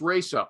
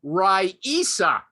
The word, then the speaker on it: Raisa: I always thought it was Rasa Gorbachev, but this woman says, my name is Rasa, Raisa, but it's pronounced Raisa, and it's mispronounced every